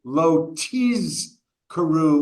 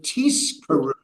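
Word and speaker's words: lo tizkeru: have to make sure you're pronouncing the Hebrew lo tiz karu with a zion, with a z sound rather than with an s sound, because if it was tis karu, to mispronounce it, that would be to earn a or to earn a reward.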